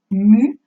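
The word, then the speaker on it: μ: stigma au passage la ce symbole que j'emploie avec non cluster se prononce mu c'est la lettre m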